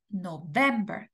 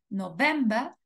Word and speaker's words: November: octubre noviembre y diciembre la sílaba tónica en inglés es la segunda september october November december Okay la la segunda sílaba es la sílaba tónica